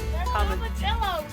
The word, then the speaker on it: tomatillo: I would call them tomatillos. Raquel would call them Tomatillo. Read them. They're what? They say tomatillo. Nice, Raquel. Tomatillo. So, that's also how you pronounce tortilla.